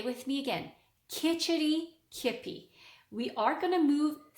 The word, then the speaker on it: Kitchitikipi: It's pronounced Kitchitikipi. Say with me again, Kitchitikipi.